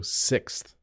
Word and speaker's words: sixth: the fifth person so sixth sixth this is a challenge for some English Learners because of the th at the end it's a challenge for